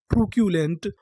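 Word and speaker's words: truculent: अगर आपको इंग्लिश में कहीं पर बीच में सी यू लिखा मिले तो हम लोग सी यू को पढ़ते हैं क्यू।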